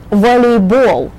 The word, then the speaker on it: volleyball: Just when you say the names of all the ball games, remember the accent is on the ball syllable. Basketball, volleyball, football, baseball.